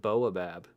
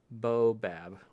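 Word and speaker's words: Baobab: I don't say the A. Boabab. The OTB disc guys named it. Boabab. I like pronouncing the letters that I see. I would rather say boa. Like a boa restrictor, boabab.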